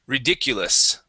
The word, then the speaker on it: ridiculous: to ridic you okay this is going to be an EU sound for that U so ridiculous ridiculous good one more